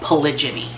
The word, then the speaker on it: polygyny: All right, so many animals that you see in the world follow a mating system that we call polygyny.